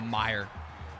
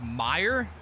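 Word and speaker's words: Meijer: Oh, Meyer M. M E I J er is pronounced Meyer.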